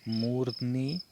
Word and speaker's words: मूर्ध्नि: दैवमेवावलंबते प्रासाद सिंहवत् तस्य मूर्ध्नि तिष्ठन्ति वायसा। इसका उच्चारण करते हुए बहुत ध्यान रखना है, बिल्कुल स्पष्ट और साफ उच्चारण। यहाँ पर मूर्धनी मूर्धनी मूर्धनी उच्चारण होगा इसका।